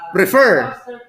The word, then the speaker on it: prefer: on the first syllable prefer stress is on the second syllable or in the last syllable which means that for